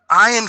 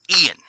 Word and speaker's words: Ian: on me for that it's not ayan Flynn it's Ian there we go okay I